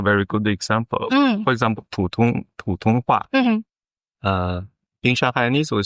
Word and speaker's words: 普通话: 普通话. That's it. That's how you actually say it. And so if I reference that, that's I think this is a very good example. For example, 普通话.